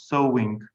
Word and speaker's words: sewing: say sewing and knitting mind the spelling uh the pronunciation is sewing sewing is what and